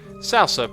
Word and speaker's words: salsa: Salsa, properly pronounced salsa. A little bit different from how I'm saying it.